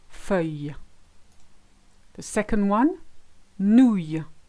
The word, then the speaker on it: nouille: The second one, nouille. Same principle. You've got the nou sound, the Y, and the silent I.